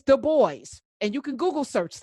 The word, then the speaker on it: Du Bois: uh intellectual idols w.e.b du bois it's the boys not dubois he was not french and actually w.b du bois tells you how to say his name it's the boys and you can google